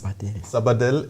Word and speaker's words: Sabadell: I hope I pronounce it correct. It's Sabadell.